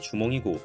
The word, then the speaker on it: 주몽: 그러니까 정확한 실제 발음은 알 수 없지만 비슷한 발음의 한자를 빌려와서 기록한 결과 주몽, 추모, 중해, 중모, 도모 이런 식으로 여러 버전들이 남게 된 것이죠. 사실이 버전들 모두 실제 이름과 100% 일치하는 발음은 아니기 때문에 어떻게 불러도 상관은 없습니다. 다만 가장 많이 알려진 버전은 주멍이고 삼국사기에서도 주멍으로 표기되었으니 삼국사기의 표기 방식을 존중하여 당분간 계속 주멍으로 부르도록 하겠습니다.